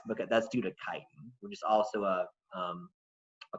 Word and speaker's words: chitin: this word is not chitin people I could mispronounce it it's Chi like the Greek letter Chi chitin is a polysaccharide that